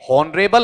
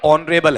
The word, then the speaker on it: honourable: ठीक, और ये हॉनरेबल है या ऑनरेबल है? इसकी स्पेलिंग बोलो, HONOURABLE।